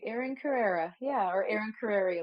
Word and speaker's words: Carere: Erin You, Carere, or how do you yeah, pronounce it? exactly. Oh, you said it exactly right. Erin Carrera.